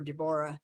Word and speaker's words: Deborah: Even though Bill used to call me DeBoring instead of Deborah, or Deborah is technically how it's supposed to be pronounced.